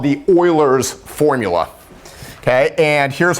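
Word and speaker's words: Euler: And I'm going to write it here like this, like oiler. The old Houston Oilers. Okay. So it's e u l e r pronounced oiler.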